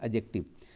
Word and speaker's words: adjective: Guys इसको जानते हैं, इसको एडजेक्टिव मत पढ़ देना, ऐसे मत पढ़ देना, एडजेक्टिव नहीं है, नहीं नहीं नहीं, ये डी साइलेंट है गाइज, है ना, ये डी साइलेंट है। ये देख रहे हैं क्या लिखा है? ये लिखा है दी एडजेक्टिव, ऐड नहीं, ऐड ड नहीं बोलेंगे, है ना।